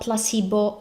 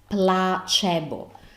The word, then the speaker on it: placebo: I think so question it's not Placebo it's pla chebo this is the perfect combination of what I told you about vowels and the Sea Bo so the sea is